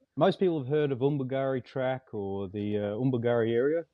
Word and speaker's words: Undumeri: Not Undumeri, Undumeri. I pronounced it right. I've had my lesson.